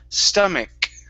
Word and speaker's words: stomach: okay instead of stage the c c uh CH there at the end makes a k sound stomach stomach stomach okay very